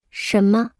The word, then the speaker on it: 什么: 这是什么？这是一支笔。这是一支什么笔？这是一支毛笔。那是本什么书？